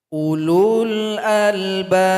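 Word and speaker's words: أولو الألباب: Di sini perhatikan sahabat Al-Quran ada waw yang polos yang tidak berharokat. Maka nggak usah dibaca. Dia punya fungsi dalam bahasa Arab, tapi dalam bacaan dia tidak dibaca. Jadi dilewatkan saja. Ulul albab.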